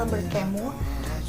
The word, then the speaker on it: Alberthiene: kota-kota tanpa masa lalu Karya alberthiene Jadi ini bacanya Albert kamu dan ini adalah kumpulan